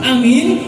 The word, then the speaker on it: Amin: wajib karena di dalam pengucapan Amin yang a-nya panjang yang depannya panjang belakangnya panjang istajib du'ana mengandung pengkabulan-pengkabulan